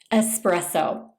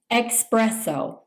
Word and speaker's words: espresso: Espresso. Sometimes people mispronounce this by saying espresso.